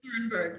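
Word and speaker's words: Thunberg: say Greta um I don't know how to pronounce her last name correctly Thor thornberg oh gret turnberg yeah yes just because um she is making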